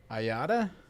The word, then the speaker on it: IATA: And Scott is an IATA accredited aircraft dealer here in North Texas.